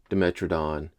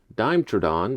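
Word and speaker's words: Dimetrodon: Honorary dinosaur Demetradon or as I used to call it as a kid, Dimetradon because Dime M is pronounced dime.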